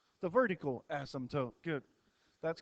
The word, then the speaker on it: asymptote: how you pronounce it the p is silent asymptote why do they even